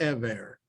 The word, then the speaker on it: Eber: the yeshiva of shame the ever as it's pronounced in hebrew uh shem and eber